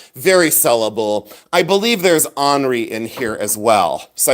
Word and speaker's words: ANRI: I believe there's Henri in here as well. So I think these are probably Henri figures, and it's ANRI. Let's take a look. Henri, Italian. There you go. I said it right.